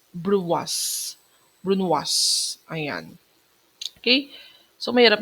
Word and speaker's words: brunoise: That is a French term pronunciation. Pero kung American English, brunos. Okay? American English, brunos. Pero kapag tinranslate na natin siya sa French term, pronounced as brunoise.